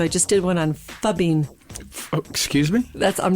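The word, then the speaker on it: phubbing: spell it for me it's fub in just like it sounds pH Oh see it sounds like f yeah F we have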